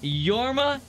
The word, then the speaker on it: Jorma: who consists of Lonely Island Andy Samberg yes yorma tone did I get that right tone but was the first name amazing pronunciation dang it I'm going to totally butcher